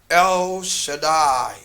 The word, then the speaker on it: El Shaddai: This is how we pronounce it. El Shaddai.